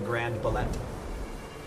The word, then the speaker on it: Grand Ballet: The Grand Ballet, also known as the Grand Ballet. That's how the French pronounce it.